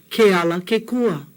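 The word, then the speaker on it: Kealakekua: Keala Kekua.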